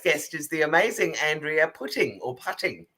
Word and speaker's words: Putting: so my first guest is the amazing Andrea pting or putting how do you say your surname putting oh great uh so Andrea why don't you